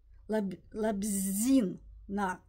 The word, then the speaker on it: Лабзина: не это Ольга лабзина надо правильно говорить мне вот Ирочка поправилась что надо так лабзина лабзина лабзина то есть ударение на гласную и на последний слог Галина Соскова художник четырнадцатый